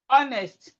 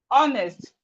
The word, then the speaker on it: honest: So we have silent letter H in words like honest, honest, rhyme, herb, honor, host.